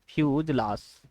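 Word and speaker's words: fuselage: ये इसको फ्यूजलास बोलते हैं, फ्यूजलास, फ्यूजलास इसका ये प्रोनाउंसिएशन फ्यूजलास है।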